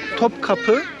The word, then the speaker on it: Topkapı: Now, the place that we're going to now, can you pronounce it for me again, Kemal? Topkapı Palace.